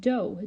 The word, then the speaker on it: dough: And one example of that would be the word dough, D-O-U-G-H. And that's the long O sound spelled O-U.